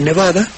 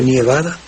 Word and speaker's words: nevada: Ahí tienes tú el caso de un participio, ¿verdad? Cae el acento en la de nevada, ya no se dice nievada.